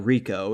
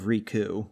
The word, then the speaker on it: Riku: he say I don't I think he said Rico like Rico instead of rku well I never really